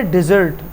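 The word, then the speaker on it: dessert: spelling दिख जाए ना double S ई आर टी बिल्कुल मुख्तलिफ मतलब भा इसको पढ़ते डिजर्ट यह डेजर्ट और यह है डिजर्ट डिजर्ट पढ़ते हैं इसको इसका मतलब मीठा मिठाई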